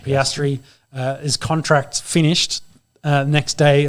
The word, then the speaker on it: Piastri: Piastri.